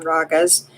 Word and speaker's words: raga: Another word for song is raga, pronounced rag, with a soft A sound.